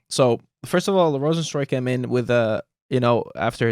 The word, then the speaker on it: Rozenstruik: about this Curtis Blades Jairzinho Rozenstruik is actually the right way to say it, because it's like, you know, they're from Suriname. They also speak Dutch. You know, they're half Dutch as well, kind of.